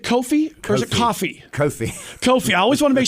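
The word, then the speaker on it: Kofi: And Coffi, did I say, is it Coffi? Or is it Coffi? Coffi.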